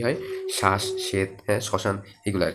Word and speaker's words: শ্মশান: ব ফলার উচ্চারণ পদের শুরুতে ম থাকলে সেটা কিছুটা যোগ করে যেমন কি শ্মশান ঠিক আছে মানে নাক দিয়ে বের হয় দেখবা যখন তুমি শ্মশানটা উচ্চারণ করবা এটা সঠিক উচ্চারণ হবে কখন যখন তুমি এটা এটা নাক দিয়ে উচ্চারণ করবা তখন শ্মশান স্মরণ এভাবে হ্যাঁ তারপরে পদের